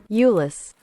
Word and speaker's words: Euless: Euless. I just looked up how to pronounce it.